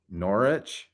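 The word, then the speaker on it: Norwich: rabbit who Lo Loop the W is silent so it's nor norich the sea is silent oh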